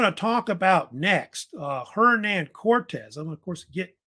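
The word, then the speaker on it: Hernán: of hernand hernand Cortez some you call him Hernando Cortez but he preferred hernand sometimes you'll see Cortez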